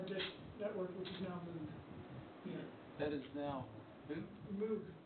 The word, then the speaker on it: Moog: It's spelled Moog, but it is Moog.